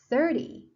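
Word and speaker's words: thirty: so the stress is on the first syllable 13 the same second syllable 30 first syllable 17 70.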